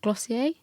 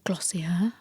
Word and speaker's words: Glossier: So Emily Wise is the founder of Glossier, or Glossier. I always say it wrong. Glossier.